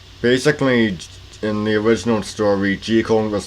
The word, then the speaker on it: Jekyll: yes g cone is the correct pronunciation now before we get started i do